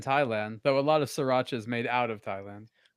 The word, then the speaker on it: Sriracha: What do you do with the first R? Basically, don't pronounce it. So, just sir. Yeah. Sriracha. Si Sriracha. So, you're mispronouncing that. You got to pronounce the R. Surely. I I don't think you do. Secondary. More like a sha shuratza. Shuratza. Okay, we'll go with that.